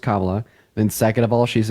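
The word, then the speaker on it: Kamala: tariffs first of all her name is pronounced Cala then second of all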